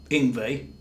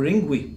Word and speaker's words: Yngwie: So you might want to do that, but there's a bit of a problem with Yngwie, or Yngwie, if you say it wrong.